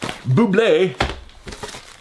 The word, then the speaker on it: Bublé: Bublé.